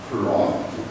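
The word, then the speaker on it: 쿨롱: 아, 그래서 이때 여기 있는 친구를 저희가 대괄호로서 단위를 표현하고 이 친구를 읽을 때는 저희가 풀롱이라고 읽어요. 풀롱.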